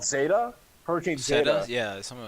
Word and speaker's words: zeta: I never ever heard Actually, of Zeta we didn't have a Zeta now. either, but it is pronounced Zeta.